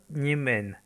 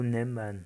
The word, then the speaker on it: Niemen: Pour en revenir à la Lituanie, ce pays est bien séparé de l'oblast de Kaliningrad par le fleuve Niemen, ou Neman selon la prononciation, pour ce qui est de la frontière nord de l'enclave.